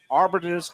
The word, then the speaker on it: Arbetter's: or time to be at a legendary spot Arbiters hot dogs this is David Mike how you doing buddy I always butcher the pronunciation yeah you got it right you